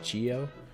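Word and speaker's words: Gyo: G GI G yo I think it's say it guo cuz Ryu is Ryu so Gio um it's uh by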